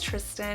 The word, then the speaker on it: Tristan: tane but no it's tristan it's pronounced just like christian but um yeah so